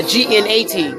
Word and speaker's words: gnat: What about a G-N-A-T? When you're so irritating, you sound like a knot. It's a gnat.